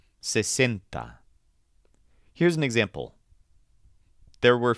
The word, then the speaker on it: sesenta: But the word for 60 doesn't have any bent sounds. All the vowels are short and crisp, and the stressed syllable sounds like cent. Sesenta.